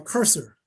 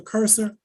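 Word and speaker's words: Kreuser: named amanda presser uh cursor uh her last name is spelled k-r-e-u-s-e-r and as amanda professor curser incorporated she's incorporated himself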